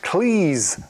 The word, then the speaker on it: Cleese: "For heaven's sake," he said, It's pronounced 'Cleese,' like 'cheese.'